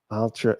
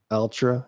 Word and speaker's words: Altra: Altra Arrow. That's Altra. Is that how you pronounce it? I think so. A L T R A. Altra. Seems like that's what it'd be. Altra.